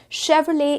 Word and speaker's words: Chevrolet: The correct pronunciation for this particular brand is Chevrolet is the correct brand.